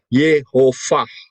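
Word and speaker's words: יְהוָה: ya, itu pengucapannya adalah Jadi kalau tulisannya Yod He Waw He dengan dikasih nikut model seperti itu bacanya adalah Yehovah.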